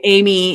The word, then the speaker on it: Aimee: Is that Amy? Like a i M. Yeah, like the Amy instead of the Amr.